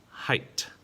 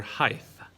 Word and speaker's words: height: is this one well this is somebody's height height it is not their height it is not their height it is a height we also have heinous